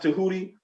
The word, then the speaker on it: Tehuti: of fact when you look up the deity to hootie a lot of times it's spelled t-e-j-e-h-u-t-i sometimes it's spell it's spelled d-j-e-h-u-t-i but it's it's pronounced to hootie um the greek changed it from tehuti and